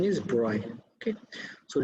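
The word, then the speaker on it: de Broglie: quantum mechanics was pioneered by french physicist louis de bruyne the pronunciation is bright okay so d broiler color derive the following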